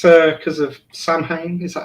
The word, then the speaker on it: Samhain: It's that's Samhain. Yeah. It's pronounced differently, but I know what you're talking about.